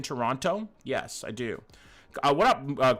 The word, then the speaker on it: Toronto: Did Johny just pronounce the second T in Toronto?